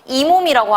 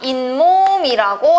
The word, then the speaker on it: 잇몸: 이몸이라고 하나요? 그렇죠. 이몸이라고 안 합니다. 잇몸이라고 하죠. 자, 잇몸이라고 했을 때 자, 발음에 이번엔 뭐가 들어가나요? 발음에 니은이 추가됐죠?